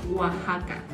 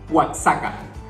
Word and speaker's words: Oaxaca: bueno a la siguiente nosotros le decimos oaxaca ustedes cómo le iría watts acá de hecho algún reto